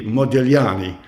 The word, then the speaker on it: Modigliani: appropriate way is modani to not pronounce the G right but very often